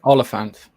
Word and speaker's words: Olyphant: Timothy Olyphant? Is that how you say his name? Oliphant. Like elephant.